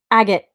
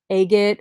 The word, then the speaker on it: agate: Agate. Yes, I did it. I was saying like agate or agat. So it's agate.